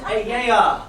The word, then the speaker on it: Aeaea: It's pronounced Ayaya.